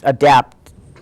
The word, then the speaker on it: ADAPT: just dropped that and adapt is adapt it is no longer an acronym even if it the name is spelled in caps so it's adapt how do you spell